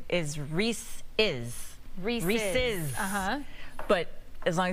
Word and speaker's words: Reese's: So they're saying the correct pronunciation is Reese's.